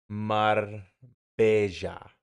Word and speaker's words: Marbella: Mar bella. Double L is pronounced like a J.